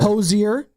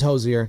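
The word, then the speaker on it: Hozier: Hosier. Take me to church. It's just pronounced hoser.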